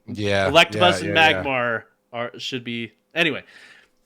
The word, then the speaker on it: Electabuzz: So red version, you have Ekans, Oddish, Mankey, Growlithe, Scyther, and Electabuzz. And then green version... said it wrong. Electabuzz.